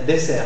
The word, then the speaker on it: dessert: clé cl clé voilà pensez à disert mais vous dites désert dessert pardon dessert dessert cellulle cell cellul